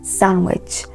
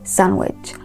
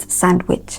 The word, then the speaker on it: sandwich: guest right silent okay so they are correctly pronounced sandwich sandwich please say after me sandwich not sandwich the other word is pronounced handsome handsome handsome